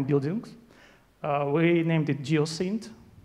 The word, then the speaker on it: Geocint: Geo dat and it it pronounced like geoc syn uh yeah world around